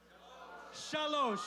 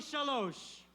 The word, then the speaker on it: shalosh: Shalosh. Show me shalosh.